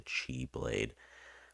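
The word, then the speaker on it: χ-blade: now I think they're supposed to be pronounced like Chi the x is like the Greek pronunciation I believe of the word if I recall correctly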